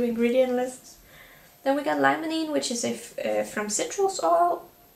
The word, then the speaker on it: limonene: Then we got limonene, which is from citrus oil.